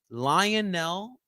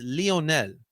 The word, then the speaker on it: Lionel: of course it is Lionel that's not how you say his name guys I'm just kidding that's not how you see this whole Lionel Messi coming to Philadelphia it's Leonel Leonel all right not lion it's the amount of